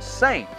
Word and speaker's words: SA1NT: in the united states they are called saint and they actually spell it s a one nt saint apparel company they're actually